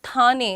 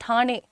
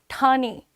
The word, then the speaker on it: ठाणे: नॉट ठाणे इट्स ठाणे ठाणे।